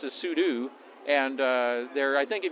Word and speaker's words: sudo: And thought, okay, sudo is do a super user thing.